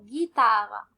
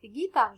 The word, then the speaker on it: guitare: Et même chose pour guitare. On va prononcer la syllabe GU suivie par I comme gui et pas comme gui. Attention. Donc, GU, I, ça prononce comme gui et pas gui. Donc, guitare, je répète encore une fois.